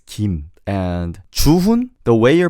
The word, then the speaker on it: Kim: Instead of Kim, it's Kim.